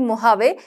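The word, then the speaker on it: Mojave: यहां पर मोहवे मोजावे ठीक है तो इसको प्रोनाउंस करते हैं हम लोग महावेद का नाम है मोहवे ठीक है तो सगवा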